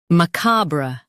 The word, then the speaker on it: macabre: macabre Now read the syllables shown on the screen naturally. ma cob ruh macabre Stress cob and soften ruh.